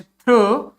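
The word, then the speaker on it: through: I could see, TH थ्रू, OUGH को O, इसको और इसका कोई प्रोनाउंसिएशन नहीं है, इसको पढ़ेंगे थ्रू।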